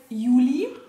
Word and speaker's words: Yuli: Juli. Wie er in die Kamera guckt. Also, der kleine Racker heißt Juli. Ausgesprochen wie der Monat, geschrieben Y-U-L-I.